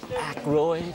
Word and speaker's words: Aykroyd: How the fuck do you pronounce this? Aykroyd.